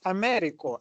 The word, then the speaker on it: Américo: So is it, you know what, because is it Americo or because I saw now you pronounce it differently. It's Américo. Américo. Okay, yes, I was right. Américo. So Okay. you know United States of America. Yeah. Just replace the A and put the O there.